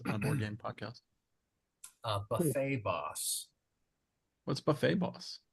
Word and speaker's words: Buffet Boss: Buffet Boss. What's Buffet Boss? I think it's pronounced Buffett Boss. It's a Jimmy Buffett. Yeah. Yeah, it's Jimmy Buffett Boss.